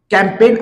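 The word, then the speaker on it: campaign: आहे ते म्हणजे कॅम्पेन कॅम्पेन मधला जो जी आहे हा आपल्याला सायलेंट ठेवायचा आहे आणि कॅम्पेन असं या शब्दाच वाचन करायचं आहे लक्षात घ्या तर अशा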